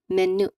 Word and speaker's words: menu: So the letter Y sound is written in the IP transcription as the letter J. So we pronounce it as menu, not menu.